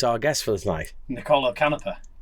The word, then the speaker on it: Canepa: Is it Canepa or Canepa? Is Niccolò, first of all. Here we go. Can you say that? Canepa. Canepa. Niccolò Canepa. Niccolò Canepa. But most of the people in Italy said it wrong and say Canepa, so...